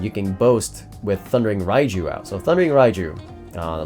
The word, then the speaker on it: Raiju: This whole deck revolves around Thundering Raiju. I'm sorry. That's the American pronunciation. Thundering Raiju. That would be the Japanese pronunciation.